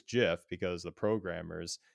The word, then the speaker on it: GIF: in the tech sector about how to pronounce is it GIF or GIF? I just learned from one of the podcasts I listen to on the Linux community that it is GIF because the programmers said choosy programmers choose GIF.